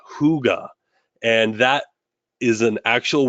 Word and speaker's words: hygge: they actually have a word for cozy that's pronounced hygge and that is an actual word that they